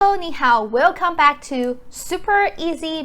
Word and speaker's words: 你: How do you pronounce this one? 你.